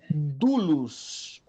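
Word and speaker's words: δοῦλος: Sempre quando você vê Sempre quando você vê o ômicron isso aqui é um ditongo tá o ômicron comon a pronúncia é como fosse um U dulos dulos Alguém sabe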